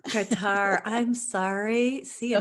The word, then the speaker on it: Kartar: who may be wondering my name is actually pronounced qatar qatar i'm sorry see you like you know that and i always ask in the beginning oh my gosh so no one's embarrassed some people say cartier diamond i love it okay we can see